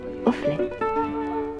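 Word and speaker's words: Offley: Cela s'écrit presque comme il le prononce. O-2-F-L-E-Y. Offlet.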